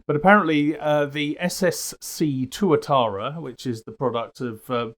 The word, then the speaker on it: Tuatara: heard of the ssc tuatara bless you yes exactly well i mispronounced it at first i thought it was torah torah i thought we were back to pearl harbor again oh careful well apparently